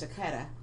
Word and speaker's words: Chaquita: I always want to say Chaquita, but her name is Chaquita.